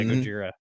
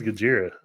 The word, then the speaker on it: Gojira: What is Gojira? Okay, so it's I want to say they're a death metal band, but they're like a heavy metal band, right? But their name is how Japanese people pronounce Godzilla.